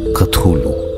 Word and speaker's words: Cthulhu: যার উচ্চারণ করলে দাঁড়ায় কাথলু।